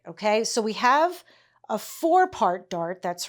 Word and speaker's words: forepart: last week what a four-part dart was. Um and so here what it is, it's spelled f o r e part. Fourpart.